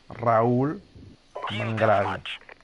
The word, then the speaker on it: Raul Mangravi: You got to roll the R. Raul Mangravi.